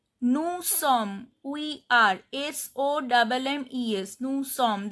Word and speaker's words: sommes: Nous sommes, we are, SOMMES, nous sommes, this S is silent.